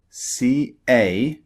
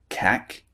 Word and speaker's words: cake: For example, cake, C-A-K-E, is not pronounced cack, it's pronounced cake.